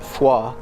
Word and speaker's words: Foy: the town of Foy I think locally they pronounce it FAA and uh we are